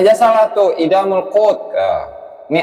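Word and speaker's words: إدام القوت: Bacanya aja salah tuh, Idamul Qut. Ini Adamul Qut katanya.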